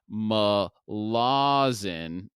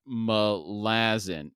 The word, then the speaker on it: Malazan: prologue and book one chapter one I was pronouncing it Ma Lawson not malazin I went back and did some due diligence and listened to an interview with Stephen Erickson he in fact does say malazin now the confusion came because some of his